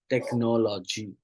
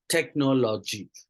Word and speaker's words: technology: of improvements cases wrong pronouncing the word called as a technology right and as technology right technology right stressing on the third syllable instead of the second right um means third syllable of stress therefore right technology right